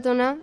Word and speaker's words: toná: La palabra toná es la pronunciación andaluza de Tonada.